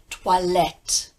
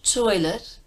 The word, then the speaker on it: toilette: is always the case so you say why let not toilet - I let no boy oi oi like an Oracle orc let me quickly place